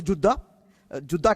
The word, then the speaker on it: جدہ: کے سارے جدہ ہو جو اصلاً اس کا تلفظ ہے جدہ کہتے ہیں، یعنی مطلب شاطئ النہر